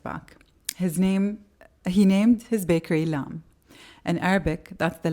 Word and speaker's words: LAM: He named his bakery LAM. In Arabic, that's the letter LAM, L. A beginning. In French, LAM, is that how it's Lamb. pronounced?